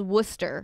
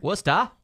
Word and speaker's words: Worcester: Well, yeah, there's a place in Massachusetts called Worcester. Worcester? That's spelled that way and then just sure at the end.